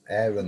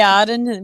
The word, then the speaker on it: Arran: Aaron, the boy. No, well, we say Arran. We pronounce it Arran in Scotland, the name, but he's meaning